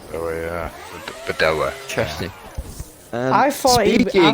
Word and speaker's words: Badoer: Pronounce What's his it. name, Clock? Luca Badoer. Badoa. Oh yeah, Bedoa.